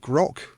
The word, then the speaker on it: Groq: And he mentioned a specific company when I spoke with him called Grok, which is GROQ, the way they right, spell it.